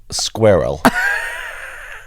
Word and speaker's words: squirrel: Yeah, but It sounds like I say squirrel because you have to pronounce the S-Q-U-I. Like there's a reason it has more than 3 letters. So you can't say it like girl.